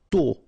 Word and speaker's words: tôt: Tôt. Okay, final did not pronounce, and then this O accent circumflex is a bit stronger than normally.